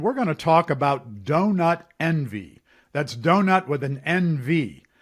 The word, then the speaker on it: DonutNV: this how do you how do you say this we usually just say say it out loud and they say donut Envy okay I get it